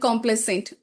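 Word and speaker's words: complaisant: We'll go over the next word complicent and complicent both pronounces the same and this is a question which came in 2022 and it used to come repeatedly.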